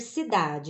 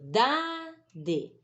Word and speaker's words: cidade: que tá tônica aí a cidade é o da não é se cidade o de é fraco né a pronúncia e os e também se cidade né não é Cida né Eu moro na cidade